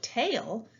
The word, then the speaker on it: tail: a long a sound a and i together are a team that says a the i doesn't make a difference sound it works with the a this is the word